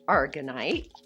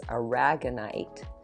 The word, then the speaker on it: aragonite: that is beautiful all right then a polished argonite oh wow i would have thought that i was like you know petrified wood look how pretty i also looked up the pronunciation of this and this is aragonite an aragonite is mostly known for perception for